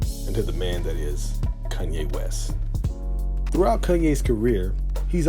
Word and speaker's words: Kanye: Now all I need is y'all to pronounce my name is Kanye, but some of my plaques to say Kane."